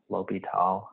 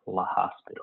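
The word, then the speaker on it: L'Hôpital: l'hopital's rule and also it is pronounced lopital if people want to be technically correct there's probably someone in the world who's going to make fun of you if you say like la hospital or something which i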